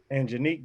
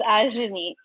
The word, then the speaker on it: Ajanique: Angenique, that's how you pronounce it? Angenique? It's Ajanique.